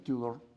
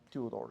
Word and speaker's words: Tudor: Se pronuncia Tudor, Tudor, ¿ya?